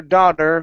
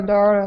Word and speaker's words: daughter: Okay, so here on daughter, you want to pronounce a flap T, saying da-der, nice and hard against the top of your mouth. Instead of dar, it's dod, daughter.